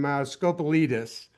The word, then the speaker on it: Scopelitis: Um, as I said, uh, we have two attorneys that are joining us from Scopalitus.